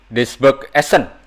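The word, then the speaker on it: Duisburg-Essen: Ini Duisburg Essen. Waduh, betul gak itu saya Ya, pronunciation-nya nih?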